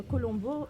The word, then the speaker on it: colombo: et le colombo viendrait d'une déformation du mot kuzambu. C'est un mot tamoul. Et c'est prononcé Koulombo chez eux, Koulombo. Et nous, aux Antilles, on dit Colombo.